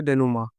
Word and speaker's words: denouement: डेनुमा बहुत लोग उसको गलत पढ़ेंगे कि उसको पढ़ेंगे डेनूमेंट और उसको अलग अलग, लेकिन इसका सही प्रोनाउंसिएशन उच्चारण है डेनुमा।